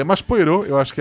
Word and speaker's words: Poirot: É, como é que vocês pronunciam o detetive da da Agatha Cristi? Poirô. Poirote, Poirô, né? Eu acho que eu sempre falei Poirô. Eu já ouvi gente falando Pierrô. Pierrô tá muito errado.